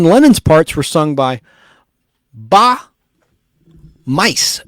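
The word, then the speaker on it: Bas Muys: John Lennon's parts were sung by Ba Mice, which is spelled B-A-S, the S is silent. Last name is spelled M-U-Y-S. Sounds like mice, Ba Mice, of the 1970s Dutch pop group Smile, spelled S-M-Y-L-E instead of S-M-I-L-E.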